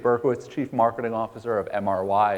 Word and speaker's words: MRY: chief marketing officer of mr why it's not like Marie or Mary or something where I I hear all kinds of pronunciations but it's a digital marketing agency formerly mr.